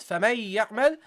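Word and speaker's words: فمن يعمل: Okay, you don't فَمَن يَعْمَل, you don't pronounce the part of the noon that's produced from the mouth area, but the part which is produced in the nasal area, because the noon has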